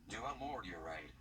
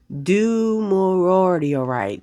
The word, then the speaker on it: Dumortierite: How to pronounce Dumortierite. Dumortierite. Say it again. Dumor- Dumortierite.